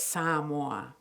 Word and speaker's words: Samoa: and I'm going to give you the correct pronunciation it's Sam war okay so I'm going to call it Sam or and Sam one's from here on out so